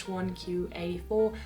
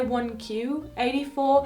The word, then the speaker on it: 1Q84: you were wondering why 1q 84 Q is the Japanese pronunciation for the number nine as well as the